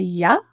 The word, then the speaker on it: you: You can be reduced to ya as a schwa because it's unstressed and there's a consonant following it as we link it.